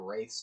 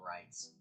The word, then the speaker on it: wraiths: I think I think they are I think these are wraiths, not rights.